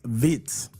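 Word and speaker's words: Wirtz: I'll let you actually It's not Vert. It's Vitz. That's how they pronounce it.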